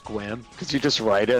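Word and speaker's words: Sequim: other one, it's- when I moved out here, is getting people to pronounce squim because you just write it. It's like Oh, yeah. pronounce that. Or sequium.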